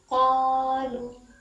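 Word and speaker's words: قالوا: الف ہے اس میں، قاف، الف زبر قا لام واو پیش لو قالو قالو، دونوں کو برابر کھینچیں گے اسے، قالو، قالو ہوں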